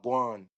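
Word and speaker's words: wah gwan: saying what's going on, we would say wan. So we we turn what's going on, what's going on is three words.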